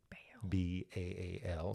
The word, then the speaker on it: Baal: And so she brings her god, her belief in her god, whose name is Baal. B-A-A-L, sometimes pronounced Baal.